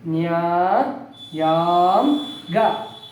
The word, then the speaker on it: ನ್ಯಾಯಾಂಗ: ನ್ಯಾಯಾಂಗ ಹೇಳಿ ನ್ಯಾಯಾಂಗ ಹೌದು ಇಲ್ಲಿ ದೀರ್ಘ ಸ್ವರ ಸೇರಿದರೆ ಗುಣಿತಾಕ್ಷರ ದೀರ್ಘವಾಗಿ ಉಚ್ಚಾರ ಮಾಡಬೇಕು ನ್ಯಾಯಾಂಗ ಇದು ಯಾವ ಅಕ್ಷರ ಬಾ